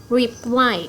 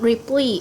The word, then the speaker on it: reply: Reply. It's not reply, it's reply. Reply straight on the second syllable.